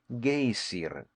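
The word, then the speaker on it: Geysir: the waters the gazer a word the icelanders pronounce gazer and which signifies Fury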